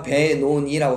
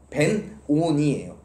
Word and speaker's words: 벤오니: 성경에서 우리가 베노니라고 써 있는데요, 이건 사실 뭐라고 읽냐면 벤오니예요.